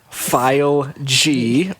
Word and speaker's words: Fileg: But you can follow me at File G, or how do you As I like to say, say Fileg. Fileg. It's spelled Fileg. F-I-L-E-G. Fileg.